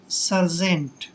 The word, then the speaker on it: sergeant: दोस्तों SER का उच्चारण हम सर करेंगे, सर, और GENT को हम जेंट पढ़ेंगे, सर्जेंट, सर्जेंट।